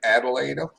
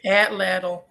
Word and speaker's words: atlatl: Swamp Donkey's saying it Adelaide, I think that's what it's called. or is it Adelaide? Atlatl. It's called an atlatl.